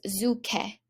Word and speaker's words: zucche: And pumpkins was zucche. When we have a CCH, it usually sounds like a letter K.